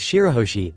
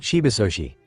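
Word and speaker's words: Shirahoshi: "It's Shiroshi, Luffy, not Shibaoshi," he corrected, the youngest's face scrunching in confusion.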